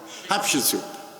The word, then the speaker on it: Hatshepsut: I remember my fashion show at the Temple of Hatshepsut. Did I pronounce properly, Zahi? Hatshepsut, yes.